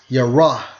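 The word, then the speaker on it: יָרֵא: Okay, now if you focus on the term afraid in the Hebrew, and it's from Strong's H33 and 72, and it's pronounced as Yarah, Yarah.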